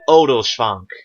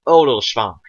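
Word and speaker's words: Oderschvank: Neliel to Odelschwank. Nel. E. L. To. O. Del. Schwank. Now that SHW is one syllable. Shv. Shv.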